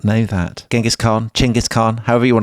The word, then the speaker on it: Genghis: mine would tell you, it's actually pronounced Chingis. Did you know that? Do you know Tom? That's an amazing revelation to me. I didn't know that. You did not know that. Genghaskhan, Chingis Khan, however you want to call him.